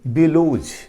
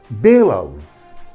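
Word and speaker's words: bellows: इसको आम आदमी पढ़ता है कैसे बेलोज, लेकिन इसका सही प्रोनाउंसिएशन होता है बेलाउज, बेलाउज, ये सही प्रोनाउंसिएशन है।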